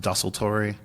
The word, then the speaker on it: Desultory: the sultry means haphazard or random it's actually pronounced dusseltory okay so we we flip it on plus